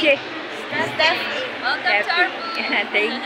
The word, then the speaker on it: Steffi: Pronounce it? Steffi.